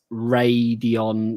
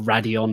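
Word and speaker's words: Radeon: kind of makes sense radion or radion however you want to pronounce it nvidia have obviously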